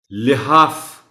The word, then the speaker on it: لحاف: بھی پڑھ سکتے ہیں۔ لحاف، لام کے نیچے زیر کا خیال رکھا جانا چاہیے۔ مناسبت، مناسبت نہیں،